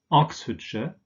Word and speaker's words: Oxfordshire: of course and but in these place names in combination with the names of towns for instance this pronounced sure so we have Oxfordshire not I'm sure remember